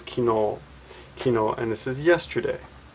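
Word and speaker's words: 昨日: Also read sakujitsu, but almost always kino.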